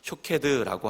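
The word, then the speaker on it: שׁוֹקֵד: 것이고 영어로는 워드플레이라고 합니다 살구나무는 히브리어로 샤캐드라고 하고 지켜라는 단어는 쇼캐드라고 합니다 12절 말씀에 이것을 대입해보면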